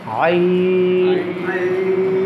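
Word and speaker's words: ع: জি, আইন কোত্থেকে উচ্চারণ করছি? এই যে কণ্ঠনালীর মধ্যখান থেকে। দেখেছেন তো না? হাত দেন সবাই, একটু হাত দেন। হ্যাঁ, ওইটাই মাথা, এখানে হাত দেন। আইন, আইন, আইন, হা, হা, হা।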